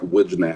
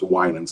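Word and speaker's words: Wijnands: Her last name is spelled w i j n a n ds. It looks like wooden but it's Winsens. It's a Dutch last name.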